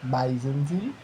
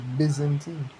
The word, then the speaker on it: Byzantine: Empire dark soal dark but bisentine with how pronounce it is Byzantine Well, so like Bzantine and my pronunciation, right?